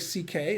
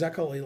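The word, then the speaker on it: Székely: is his name was Szekely, which is Hungarian, but it's pronounced like C.K. It's not pronounced Zekely like you would pronounce it.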